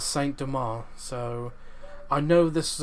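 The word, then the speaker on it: Saint-Domingue: only a year before i thought it was pronounced saying dominique but but for the purpose of the video i'll just pronounce how it's pronounced in this in this video um as saint demar so i know this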